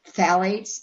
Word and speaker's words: phthalates: We also don't want, I think it's pronounced phthalates, even though it's spelled PHTHALATES, phthalates or parabens.